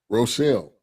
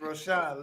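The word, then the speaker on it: Rochon: Rochelle. There's no L's in it. I know. It ain't no L's. It's Roshan. Leela.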